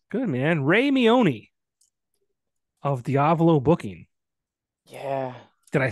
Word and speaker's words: Diavolo: I'm surprised why because lot of people don't say it right they they uh you know they say it as uh diavalo or something like that where it's like it just sounds like Diablo but with a V instead of a b